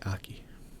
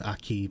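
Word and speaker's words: Akki: Yeah, A-K-K-I, Aki. Ah, Aki. Some people pronounce it in the north Aki, but tomato.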